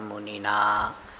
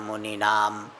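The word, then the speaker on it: मुनिना: Bhagavata Narayanena Swayam Vyasena Grathitam Purana Munina. Here also people say Purana Muninam. It is not Muninam.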